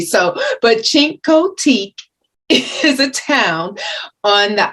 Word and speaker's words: Chincoteague: the place for you check out chincoteak virginia i think i'm pronouncing it right because for months i've been pronouncing it incorrectly so but cinco teak is a town on